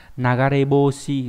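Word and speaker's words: 流れ星: Sao băng có hai cách cách đọc đấy là nagareboshi và gì nhỉ? Và ryusei, lưu ý nhá, hai cách đọc.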